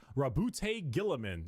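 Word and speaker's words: Roboute Guilliman: Rabbout Gillaman.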